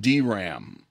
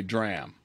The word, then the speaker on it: DRAM: is usually pronounced sram and this is usually pronounced dram although some people say dram static rams are built using latches and gates